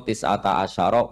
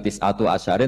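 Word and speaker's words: تسعة عشر: Padahal itu jadi mubtada muakhar berarti alaiha iku tetep ing atase neroko tisata asyaro utawi 19. Tetap bacanya bukan tisatu asyarin tapi tisata asyar.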